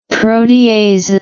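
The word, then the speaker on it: proteases: So when stimulated by one of several triggers proteasis see pronunciation here proteasis yeah proteasis in the system cleave specific proteins.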